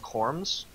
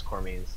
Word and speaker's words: Corms: pet that's summoned is technically pronounced Corms, because there's Tuz, Kra, and Corms, which is supposed to sound like Tuska comes. A little bit of trivia. Hi, Anyhow. Kitten. Everybody thought it was Cormies, and At this And